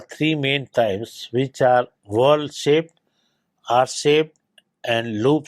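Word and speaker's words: whorls: patterns are very important when we say w o r LS the spelling of it is pronounced as a world I have seen that in some of the universities the shouldent pronounce in different words but it should be pronounced as world right when we look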